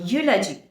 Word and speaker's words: eulogy: spelling of the word though it is starting with two vowels here yet the pronunciation is as that of a consonant therefore we have to